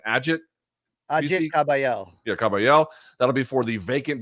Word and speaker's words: Kabayel: Big Bang Zhang taking on, how do you pronounce this guy's name? Ajit Kabayel. Yeah, Kabayel.